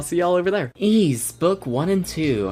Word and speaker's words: Ys: one quickly review ease also before I get into it I'll probably up and pronounce the name as wise a couple of times so future dubs how